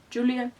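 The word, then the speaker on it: Julián: Julian? It's spelled Julian, but I know it's pronounced with the H sound, which my mouth isn't really equipped for.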